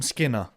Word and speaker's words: Skinner: my name and his last name rhymes with winner it's skinner hamstring work done believe